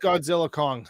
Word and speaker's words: Godzilla x Kong: title of that too it's called Godzilla xong it's just Godzilla Kong it's like Hunter Hunter Hunter you don't pronounce the X okay they run together